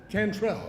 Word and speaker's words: Cantrell: Sheba, is it Cantrell or Cantrell? Sheba, come on up from Cason Lane Academy. Help us on the pronunciation. I hate to say somebody's name wrong. Cantrell, okay. Thank you so much.